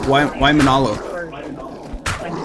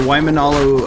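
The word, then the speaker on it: Waimānalo: a dark scaly chest no it's why Manalo it's the Waimanalo uh cakey fire and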